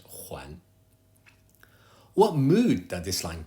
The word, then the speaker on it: 还: Please note that this Huan would normally be pronounced hai, meaning still or yet, but here, as a verb, needs to be pronounced Huan.